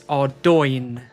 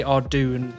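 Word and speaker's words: Arduino: I pronounce Ardugna as how it's intended because I was told off. It's Ardoin. I know it's Ardoin, but I used to say Ardoon because it sounds better.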